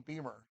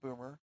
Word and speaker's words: Beamer: Um and I apologize it's Beamer, not Boomer.